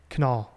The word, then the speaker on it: Kunal: Kunal.